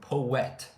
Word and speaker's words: poet: And then poet. Poet. You almost put a W in between the OE to make a poet sound, but you say it fast. Poet.